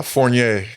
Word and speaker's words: Fournier: bro your your last name how do you pronounce it uh forier forier yeah dude I would have never I